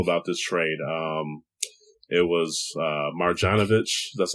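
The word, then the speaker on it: Marjanović: do you know about this trade it was Marjanovic that's how you say his name and grant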